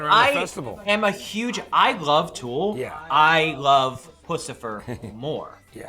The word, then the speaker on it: Tool: Toll. What? He says it Oh, right. I think dear. he says it Toll? good. Matt, I say it right. Tool.